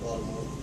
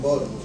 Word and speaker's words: Baltimore: Now, a person from Baltimore will spell it correctly 99% of the time, but pronounce it with a D sound instead of a T.